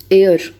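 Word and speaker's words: heir: तो उत्तराधिकारी का ये जो एयर है, इसकी प्रोनाउंसिएशन एयर वाले एयर की तरह होती है, हेयर नहीं होता, ठीक है, हेयर नहीं होता, एच से नहीं होती, एयर से होती है, ए से होती है।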